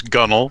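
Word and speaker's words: gunwale: There's also for castle, which is pronounced folks. Uh, so I crazy stuff. So there's gunnel which is gun whale.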